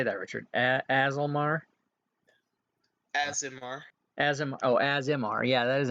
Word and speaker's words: Aasimar: Aasimar?